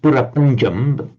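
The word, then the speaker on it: பிரபஞ்சம்: prapancha in Tamil, and he said yes, it's pronounced purapanjam, essentially the same word in Tamil, but in Tamil it means creation, as in divine creation.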